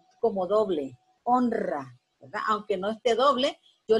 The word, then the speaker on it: honra: la poleras y ahora pero yo digo honra fuerte porque va precedida la consonante n por eso la regla me está indicando a mí yo debe pronunciarla como doble honra aunque no esté doble